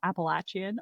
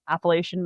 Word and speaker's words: Appalachian: You know, you've got the depending on where you are either the Appalachian or the Appalachian Mountains pronunciation depends on where you are in the state which I found very interesting.